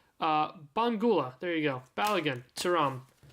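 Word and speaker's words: Mbangula: Mora, Kenan Yildiz, Mainu, Bangula. Oh my god. Let's just never pronounce the M. Bangula, there you go.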